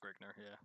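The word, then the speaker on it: Grignr: It's pronounced Grigner, I almost said ginger.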